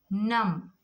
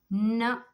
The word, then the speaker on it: numb: Next, numb, numb, numb.